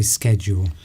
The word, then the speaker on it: schedule: So schedule and schedule, but both of them are acceptable. Yes. But yes, if you wanted to sound American, you would say schedule.